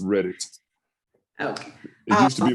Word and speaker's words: Redditt: so old it's it's Reddit like the website Reddit it only has two